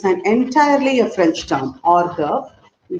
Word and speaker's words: hors d'oeuvre: So this is to be pronounced as hors d'oeuvre, which means appetizer.